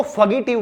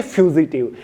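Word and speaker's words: fugitive: काफी सारे लोग इसको फगीटिव बोलते हैं, तो इसकी सही प्रोनाउंसिएशन होगी फ्यूजिटिव, ठीक है।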